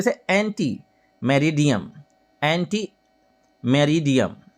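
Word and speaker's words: ante meridiem: एंटी मेरिडियम, एंटी मेरिडियम, एंटी मेरिडियम, एंटी मेरिडियम मतलब, एंटी मेरिडियम मतलब दोपहर 12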